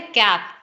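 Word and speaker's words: cape: बता भी दिया है साइलेंट ई रूल ठीक है जब एंड पे इ आ जाएगा अब देखिए पहले है कैप लेकिन जब एंड पे इ आ गया तो तो ये बन गया केप।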